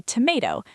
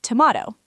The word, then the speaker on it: tomato: Americans say tomato. British say tomato.